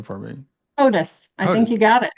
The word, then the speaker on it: Hodous: So, uh, can you pronounce your last name for me? Otis.